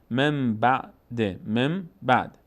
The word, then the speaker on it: من بعد: مثال بعدی، من بعد اینطور نوشته میشه اما اینطور خوانده نمیشه، نون بعدش ب آمده، به جای نون میم تلفظ میکنیم، مم بعد.